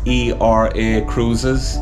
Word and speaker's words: Era Cruises: you have a tour of era cruises yes era cruises of all things the cruise that we went on is e-r-a cruises pronounced era cruises so irish cruises it's just so